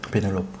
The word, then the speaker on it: Pénélope: Pénélope. Oui. J'ai bien prononcé hein.